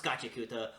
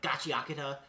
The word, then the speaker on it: Gachiakuta: Oh, this is Gachiakuta or Gachiakata.